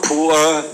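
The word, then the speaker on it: Pu'er: The traditional pure tea, and they are poor tea in China, pronounced as poor, and then from now on, Atomy pure tea will make it poor tea.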